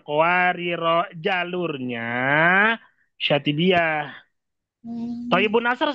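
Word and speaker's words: قواريرا: cara baca Kalau cara baca, kowariro, ya. dipanjangkan rohnya, kowariro, jalurnya, syatibiyah. Hmm, Thayyibun Nasr sama gak? Sama. Karena cuma satu perbedaannya di sini. Cara bacanya qawariro, itu namanya sifir mustadir.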